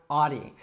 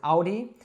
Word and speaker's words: Audi: Now, I would probably say this one Audi, but depending on who you talk to, you might also hear it pronounced more like the German pronunciation, which I believe is Audi.